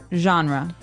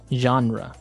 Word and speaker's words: genre: We say genre. Genre word genre. This kind of sounds French.